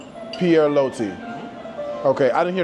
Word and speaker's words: Pierre Loti: How do you pronounce the name of this restaurant? Pierre Loti. Pierre Loti.